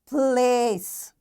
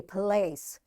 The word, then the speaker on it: place: Likewise, place. This E is silent and this A is giving its long sound A, place.